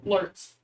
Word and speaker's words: Lurtz: It starts with the L, and it's just one syllable. Jonathan? Lurtz. That is correct. Lurtz is 2 symbols.